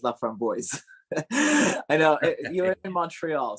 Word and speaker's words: LaFramboise: was from Chicago so he pronounced his last name as love from boys I know you're in